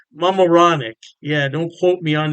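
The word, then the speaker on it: Mamaroneck: state p kipy and I believe it's pronounced Mam moranic Mam moranic yeah don't quote me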